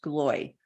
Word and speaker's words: Gloy: His last name is pronounced Gloy, John Gloy.